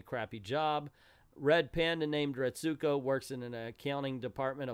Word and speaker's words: Retsuko: It goes on to say Retsuko stows away at a local karaoke shop, takes her microphone out of her purse, and shakes the place with covers of metal songs as Restuko, excuse me, I've been saying it wrong, discovers